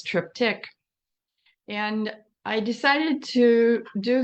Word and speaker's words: triptych: You can say triptych if you want. I think the more common pronunciation is triptych.